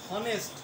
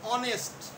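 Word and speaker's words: honest: একইভাবে হনেস্ট হবে অনেস্ট, হনেস্ট লেখি আমরা হনেস্ট কিন্তু উচ্চারণটা হবে অনেস্ট।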